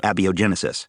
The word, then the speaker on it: abiogenesis: is so well hidden that Eric can't even pronounce it abiogenesis it's abiogenesis not abiogenesis it's Leviosa thanks also